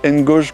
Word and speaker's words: Engage: les engage pro alors si on prononce à la française ça fait Ngage pro donc là on a